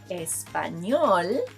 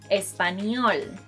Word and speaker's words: español: Say, estoy estudiando español, rather than español. I know, even Will Smith mispronounces the name of the language. Look. Toda la gente habla español.